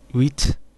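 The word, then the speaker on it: huit: see what you ate wheat you don't pronounce that final consonants before another consonant excepting dates also do not contract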